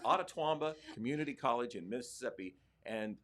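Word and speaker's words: Itawamba: I think it's pronounced Ottawamba. It's an Indian name. Ottawamba Community College in Mississippi.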